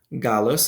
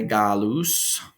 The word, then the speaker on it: Gallus: Gallus is how we'll pronounce it, or how I'll pronounce it. If you're using ecclesiastical pronunciation, you might say Gallus.